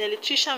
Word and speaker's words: electrician: stress on ti politician in electrician we have the stress on tri electrician and in technician the